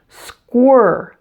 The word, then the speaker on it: squirrel: word the ER sound to make the earth sound your tongue floats in the middle of your mouth not touching anything and it's tense - your lips will also come out as if you're going to kiss someone like this ah this should be fairly easy to do since your lips are already rounded from the W sound just before that ern squirel square note